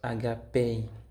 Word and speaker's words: agapé: Il se prononce agapé.